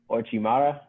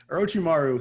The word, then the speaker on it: Orochimaru: me actually say these names correctly but uh ochimara orochimaru he's bad he does a lot of things